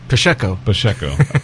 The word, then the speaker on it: Pacheco: But it's pronounced Pacheco. Soft CH.